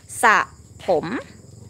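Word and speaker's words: สระผม: ส ะ ผ ม Even though it write the word ส ะ ผ ม with the ส อ เ สื อ Okay. ส อ เ สื อ ร อ เ รื อ but it's have to pronounce without R น ะ ค ะ ใ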